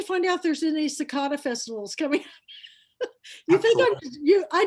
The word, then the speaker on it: cicada: Now, But I know you came out, you so- pronounced it one thing, but is it cicadias? Cicada.